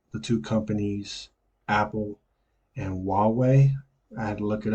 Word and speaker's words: Huawei: two companies apple and Huawei I had to look it up to see how to pronounce it right the H of silent but it's Huawei um so let's just